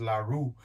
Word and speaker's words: LaRue: the the us and the brand and it's pronounced larue but this is a larry larry tactical lt15 rifle it's an ar-15 platform it's nothing